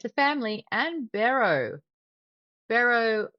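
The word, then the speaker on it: Bero: Barrow looks like it rhymes with hero, and he's anything but.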